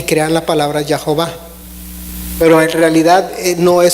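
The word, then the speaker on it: Jehová: que también se conoce se pronuncia también a veces como y joba porque le están agregando las letras las de las vocales de adonay en youtube y crear la palabra ya jova pero en realidad no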